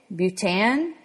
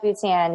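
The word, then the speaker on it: Bhutan: next one is I'm definitely going to um mispronounce this it's BH u t an butan oh butan yeah no mhm never no haven't in there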